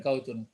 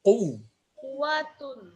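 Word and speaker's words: قوة: Bukan kautun. Kuwatun.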